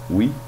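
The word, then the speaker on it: oui: We? Apparently you spell we, O-U-I. In French?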